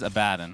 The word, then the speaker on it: Abaddon: The correct pronunciation is Abaddon.